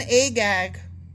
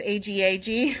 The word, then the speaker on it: Agag: No, because that's spelled A-G-O-G and this is A-G-A-G.